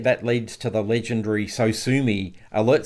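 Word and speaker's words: Sosumi: And so his response was, So Sue Me. And as people will be aware, if you're into this space, it's spelt SOSOMI.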